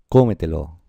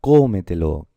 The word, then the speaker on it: cómetelo: Mirad, por ejemplo, cómetelo, cómetelo. Vemos que son 4 sílabas y la fuerza, la sílaba tónica está en esta, cómetelo, que es la última, penúltima, antepenúltima, la de anterior a la antepenúltima.